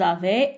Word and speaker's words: avaient: Ils avaient, elles avaient, la liaison aussi. Et E, N, T ne se prononce pas.